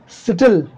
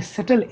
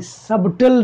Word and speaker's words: subtle: Because more सटल, दोस्तों ये सटल SUBTLE सबटल नहीं है, ये सटल है, बी साइलेंट है, क्लियर है.